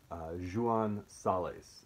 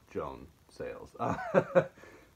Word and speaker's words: Joan Sales: that in Catalan but I believe it's Jean Sally's not Joan sales but it's a novel